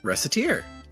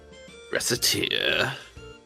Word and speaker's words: Recettear: So I put Recette and Tyr together, and Recettear.